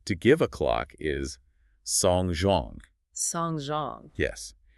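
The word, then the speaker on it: 送钟: The phrase to give a clock is songzhong. Songzhong. Yes. And songzhong, with different characters but identical pronunciation, also means to attend a funeral or to send someone to their end.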